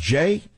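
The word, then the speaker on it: Jeh: us what is a name jam mean it's pronounced Jay taken from a Liberian Chief who reportedly saved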